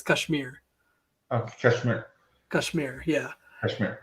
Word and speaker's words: Kashmir: to say it is cashmere which is totally fine but the the way we say it in india is kashmir oh kashmir kashmir yeah